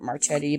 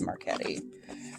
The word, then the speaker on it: Marchetti: look it up and i always pronounce it marchetti but it is marquetti um kind of magnetic